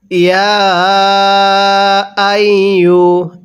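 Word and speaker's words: يَا أَيُّ: ইয়া আইয়ু, এই ইয়া এর মধ্যে আমরা 3 আলিফ টান দিব, কারণ ইয়া খারা জবর ইয়া। ইয়া এর উপর এই যে চিকন চিহ্ন, একটি নিয়ম আছে মদের হরফের উপর এরকম চিকন চিহ্ন, এরপরে যদি লম্বা হামজা থাকে তাহলে সেখানে আমাদের 3 আলিফ টেনে পড়তে হবে।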